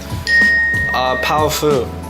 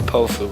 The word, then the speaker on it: Powfu: Powfu. Powfu. How it's spelled. A lot of people call me Pofu, but that's incorrect. Yeah. You gotta think of the old Batman shows.